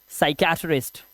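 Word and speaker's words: psychiatrist: उसके बाद पी, कह रहा है एस से पहले अगर आएगा पी तो प्यारे बच्चों क्या करना है आपको, साइलेंट कर देना है पी को।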